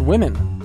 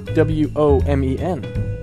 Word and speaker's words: women: makes an f we also have the word women w-o-m-e-n where that o seems to make an e sound women also the word nation